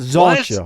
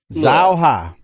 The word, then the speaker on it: Zauha: Well, no, he says he posted, I think a couple weeks ago and said it's Zauha, not Zoncha, Harper. Zauha. Just say it how it's.